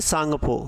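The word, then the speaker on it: Tsangpo: क्या कहा जाता है सांगपो इंग्लिश में जो लिखा जाएगा वो टी आएगा स्टार्टिंग में टी साइलेंट है बोलने में सांगप ही लिख बोला जाएगा इसको भाई इसके अलावा इस नदी को अरुणाचल प्रदेश में क्या बोलते हैं?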